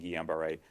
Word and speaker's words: Guillain-Barré: So getting influenza infection puts you at higher risk of getting Guillain-Barré than influenza vaccine.